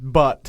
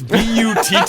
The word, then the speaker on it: Butte: does not like us misusing the term butt. It's Butte, and you're dumb enough to name your town.